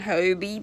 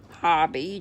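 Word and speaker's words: Hobbii: I've been saying Hobie, but it's Danish. And everybody says that it's pronounced Hobby, just like Hobby.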